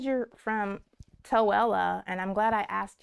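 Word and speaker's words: Tooele: do it's awesome so it says you're from towella and I'm glad I asked you how to pronounce that that's somewhere in Utah I imagine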